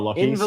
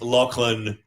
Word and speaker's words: Lachlan: Locking. Actually, it's actually pronounced um right it's actually pronounced Lachlan. It's actually pronounced Lachlan Graham.